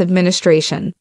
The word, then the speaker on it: administration: Administration, trọng âm ở tray và trọng âm phụ ở ad, administration.